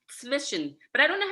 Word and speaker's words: Zwischenzug: Like a TS, the Z's are pronounced not as a Z, but as a TS, so it's Zwischen.